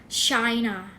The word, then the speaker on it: China: ภาษา อังกฤษ เรา จะ เรียก ประเทศ จีน ว่า China China นะ คะ ไม่ China China ทา นะ